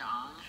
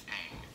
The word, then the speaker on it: Aang: powerful, multi-element controlling kid Ong? It's Aang. Ong? I'm saying Aang. I'm hearing Ong. How are you hearing Aang? It's Aang, not Ong, and don't you Don't you dare pronounce it like that.